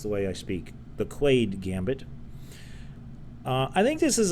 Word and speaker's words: Quaade: And this is called, I believe it's pronounced the Quade Gambit. Is it Quade or is it two A's? Quaade? Quade Gambit. I'm just going to go with Quade because I'm American and that's the way I speak.